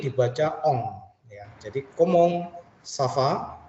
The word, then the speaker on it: ça va: Jadi komong safa. Jadi c ada di bawahnya seperti ini. Garis itu seperti pembacaan s ya. S ya. Jadi safa.